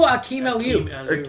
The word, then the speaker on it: Akeem Aliu: Oh, Akeem Aliu.